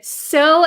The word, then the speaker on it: sew: device got very good so and so are the same pronunciation yes so s-e-w and so have the same exact pronunciation so and so sewing